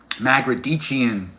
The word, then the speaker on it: Magrdichian: How do I pronounce my last name? Magician. That's M A G- R D I C H I A N.